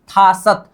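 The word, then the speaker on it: 다섯: क्या होगा, यहाँ त होगा, क्या होगा, त, उच्चारण क्या हुआ, थासत।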